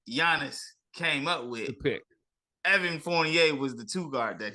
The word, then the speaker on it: Fournier: then surprise surprise surprise we have Evan Fournier Fournier right I'm saying that right right and now